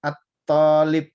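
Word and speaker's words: الطالب: Thalib itu kalau pakai alif lam dibacanya at-thalib, at-thalibu gitu. Pasti lamnya nggak kebaca.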